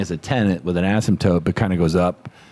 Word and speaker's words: asymptote: I think I'll use it my whole life is asymptote. Nailed it. Right? Just because it's fun to say. No, I was I didn't pronounce it right the first time.